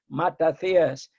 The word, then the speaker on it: Matathias: And my father, may rest in peace, will well just to think that there are people who pronounce the name properly, Matathias, because in Greek there is no I.